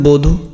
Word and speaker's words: বধূ: একদম সিম্পল, রস্যকার দীর্ঘকার যেটাই থাকুক না কেন উচ্চারণ আমরা কি করব? রস্যকার করব। ক্লিয়ার? তো এখানে দেখো বধূ, বধূ বানানে এখানে কি হচ্ছে?